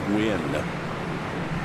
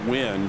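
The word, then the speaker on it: Nguyen: I would love to talk to him to see cuz I believe in America we pronounce that spelling as Wynn.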